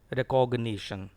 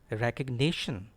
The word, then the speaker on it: recognition: I have listened to many boys pronouncing this word as recognition. It is not recognition. It is actually recognition. I have written the words which have stress in capital letters. So the stress is on NI.